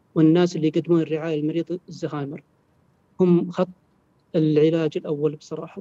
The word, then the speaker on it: ألزهايمر: الـ هذه ما هي آل التعريف العربية، اسمه ألزهايمر بالشكل هذا. فنطق الزهايمر نطق صحيح. صحيح، الزهايمر هو النطق الصحيح، كلمة زهايمر هي الكلمة الغريبة.